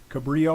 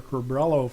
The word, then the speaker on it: Cabrillo: We need to download the Cabrillo or Cabrello file. Choose your own favorite pronunciation.